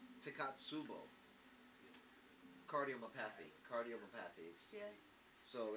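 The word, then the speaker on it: Takotsubo: Yeah, and I don't want to shred it, but it's pronounced Takatsubo.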